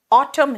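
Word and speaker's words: autumn: है अभी क्या है ऑटम है पत झड़ है बेटा ऑटम स्पेलिंग है ए यू टी यू एम एन लेकिन यहां एन साइलेंट है आर या तो सॉफ्ट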